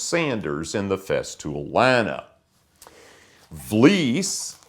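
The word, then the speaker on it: Vlies: in the Fest tool l v is pronounced like fleece it's a thck material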